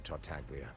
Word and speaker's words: Tartaglia: It would appear that I must repeat my question again, Mr. Tartaglia. Your Honor, the G is silent, please.